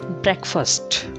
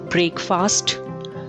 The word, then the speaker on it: breakfast: hotel next word is breakfast breakfast not break fast break first breakfast this is something we